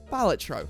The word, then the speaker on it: Balatro: and I type in batro I spell it right right I don't say baloro or baloro or Balo I spell batro which is the actual way you spell it and you know